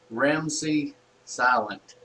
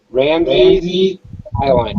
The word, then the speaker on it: Ramsey Island: Now, Tim is with us, and he's from Ramsey Silent. Is that correct? Ramsey Island. All right, I got it. That's the first time I've actually pronounced that correctly.